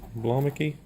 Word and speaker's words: Blomiky: You helped me out with that pronunciation. Blomiky.